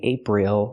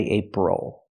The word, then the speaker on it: April: is on the first syllable ape the second syllable o is not stressed so we do not say April we say April use the close sound o like muscle and